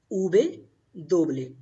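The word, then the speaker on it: uve doble: Letter W is pronounced as ube doble, ube doble, ube doble.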